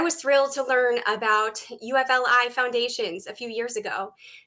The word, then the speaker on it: UFLI: Lane is the director of the University of Florida Literacy Institute, UFLI, pronounced UFLI, and an associate professor of special education.